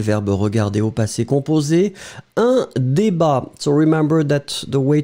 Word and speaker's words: débat: Un débat. So, remember that the way to write it will be D-E accent aigu, B-A-T. Final T is not pronounced, but still it should be here.